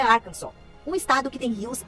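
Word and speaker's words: Arkansas: Embora em português falamos arcansas, aqui nos Estados Unidos a pronúncia é Arkansol, um estado que tem rios e nascentes de águas termais que formam lindas paisagens.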